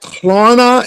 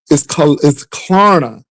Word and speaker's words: Klarna: Is it like Klarna?